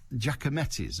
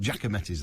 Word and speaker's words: Giacometti: Liverpool and they've got Giacometti's or Giacometti if you like but Giacometti's the correct pronunciation I'm told well the Giacometti statue